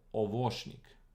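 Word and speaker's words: овощник: So the thing is, ovoshnik, so it's actually on the second syllable, ovoshnik, see? Ovoshnik, because of the accent on this one.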